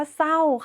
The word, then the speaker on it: เศร้า: ต่อ ไป คำ ว่า เศร้า ค่ะ เรา ก็ จะ อ่าน ว่า สร เอา เสา ไม โท เศร้า ไม่ อ่าน ออก เสียง ร เรือ นะ คะ แต่ คำ ควบ